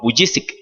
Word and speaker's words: Vujicic: No pronunciemos el apellido porque es difícil, ¿cierto? ¿Cómo es? Vujicic. No que sea bullicioso, no, Vujicic.